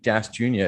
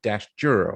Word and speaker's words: Dashjr: Well, everybody says Junior. Apparently, it's not Luke Dash Junior. It's Luke Dashjr or something like that.